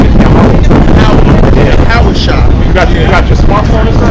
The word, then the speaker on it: Yahawah: God's name is Yahawah.